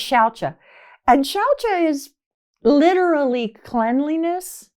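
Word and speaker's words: śauca: The first niyama is shaucha. It's spelled S-A-U-C-A, but all C's in Sanskrit are a CH sound, like chakra.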